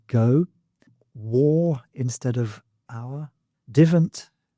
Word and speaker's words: divent: Um, the ones I've got particularly in mind are gan instead of go, war instead of our, divant instead of don't, and a instead of I.